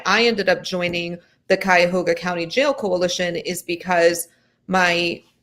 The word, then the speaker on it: Cuyahoga: county jail the name of the county jail cuyahoga county cuyahoga county okay and your name is pronounced azura yes okay all right guys so